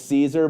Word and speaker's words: Caesar: remember how to actually say it, that it's Caesar. But drop down wrong answers only, how you've seen Caesar pronounced, how you've had people text you Caesar is pronounced.